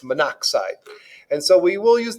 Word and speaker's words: monoxide: carbon and one oxygen we're going to put mono oxide which is pronounced monoxide and so we will